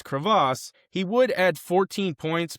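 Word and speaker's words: Krivas: Now, I'm going to make sure that I pronounce this name correctly. It's Crevasse.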